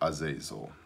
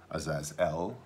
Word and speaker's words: Azazel: the other lot for Azazel haces all as as ell depending on how you pronounce it Azazel and he shall